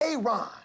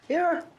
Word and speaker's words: Aaron: Aon. Aaron.